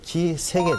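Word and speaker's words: 氣塞: 막힐 색자는 두 가지로 해석을 하죠. 막힌다고 할 때는 색이라고 하고, 요새, 성체라고 할 때는 새라고 읽죠.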